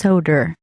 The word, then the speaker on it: Soder: soda is that it soda it's actually uh soda it's pronounced Soder odd Soder all right